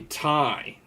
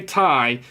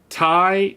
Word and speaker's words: Ti: sound that it was just weird man 3090 tie the 3090 tie yes I say Tai because that's the way Tom Peterson would pronounce it uh Jensen will say TI some